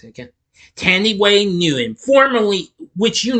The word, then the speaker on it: Thandiwe: flashback sequences Ginger is voiced by how I pronounce it again Tandy Way new him formerly which you knew formerly knew